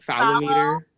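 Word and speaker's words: phallometer: And how do you pronounce that? Is that Oh, fallometer.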